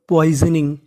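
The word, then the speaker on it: poisoning: पी ओ आई एस, इसे पढ़ेंगे poise. क्या पढ़ेंगे? पॉइज। यहाँ पे जो हमारा एस है वो जा का काम करेगा। तो इतनी मीनिंग बनी पॉइज। ओ का उच्चारण हमें करना नहीं है।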